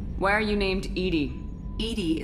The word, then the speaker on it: EDI: are you named Edie Edie is the phonetic pronunciation of e di that is an acronym